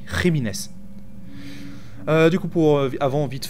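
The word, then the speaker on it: Jiménez: jiméz pardon ah oui parce que jiméz c'est un nom espagnol du coup les le J se prononce r donc c'est pas jiméz mais rines du coup pour avant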